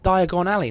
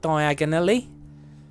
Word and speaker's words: Diagon Alley: said it wrong again it's Diagon Alley not diagonally I find a way